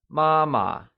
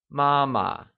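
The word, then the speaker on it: 妈妈: and say Baba great mother becomes mama and it is pronounced using the high level tone let's hear you say mama excellent the words son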